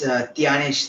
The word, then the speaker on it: Thyanesh: Tyanesh, it is Tyanesh or Dhyanesh? You can spell it however you want, sir. Hey, no, you tell me what is the right one. In Tamil, it's Thyanesh, sir. In Tamil, it is Thyanesh.